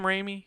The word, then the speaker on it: Raimi: of this movie oh man okay gotcha Sam Rainey Spider-Man is it Sam Raimi is that how you say it is that